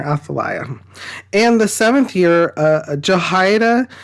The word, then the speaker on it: Athaliah: Some pronounce her Athaliah, but I'm pronouncing her Athaliah.